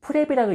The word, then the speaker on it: PREP: PREP, 프랩이라고 읽는데요, 이 구조만 이해하시면은 여러분의 보고서가 완전히 달라집니다.